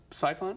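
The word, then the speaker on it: Psiphon: which you've been receiving Awards uh do I pronounce it siphon cphon that's it's spelled PS i p o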